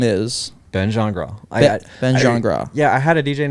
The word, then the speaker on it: Gingras: say it again my it's pronounced genre genre so that what is that French yes okay well when you see it on paper a lot of people skin grass Gene grass like that yeah Ben